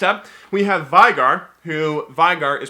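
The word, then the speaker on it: Veigar: Vigor because in German when you have like an e and an i next to each other you say the you say the one that comes second so v-e-i-g-a-r is vigar the vegar would be v-i-e I learned that in German class I'm pretty sure that's how it works otherwise I'm gonna look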